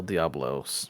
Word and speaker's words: Diablos: the way I said I keep calling it The rlos apparently it's the diabl El Diablos or something oh I don't care